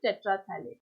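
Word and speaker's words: terephthalate: पीएच यहाँ पर जो है, पी जो है यहाँ पर साइलेंट होता है, तो हम किस तरह से प्रोनाउंस करेंगे? पॉलीइथिलीन टेट्राफथैलेट। तो बहुत ही कॉमन पॉलिएस्टर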